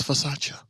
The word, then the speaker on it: Versace: She said, "Hey, when they mispronounce the name, it's not Versace, it's Versace."